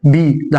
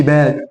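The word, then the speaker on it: bed: هنا اقول بي، ده حرف ايه؟ البي. بعدين الايه؟ هقول بي. بي يبقى بيد. بيد. ما اقولش باد، ما اقولش بود. ده اي يبقى كسرة بي بيد.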